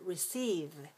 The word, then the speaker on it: receive: We also have another pattern, which is for the word receive. Receive is the verb, and we have the noun reception. So this really changes a lot in the second syllable, from e-sieve to e-sep, reception.